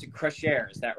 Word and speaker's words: Crescere: pronouncing your winery right um and so i pronounce it crush air is that right the share is correct yes